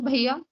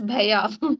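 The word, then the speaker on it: भैया: Bhaiya, just pronounce bhaiya. How to say that? Bhaiya, No, it's not the correct pronunciation. It's bhaiya. Bha, do ek hi matra aur ya bhaiya.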